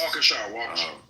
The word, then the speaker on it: Waukesha: Waukesha. Thank you. I'm like, I have no clue how to say it. Waukesha, Wisconsin.